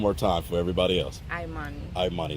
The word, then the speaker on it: Imani: it's Imani, Yes, Imani.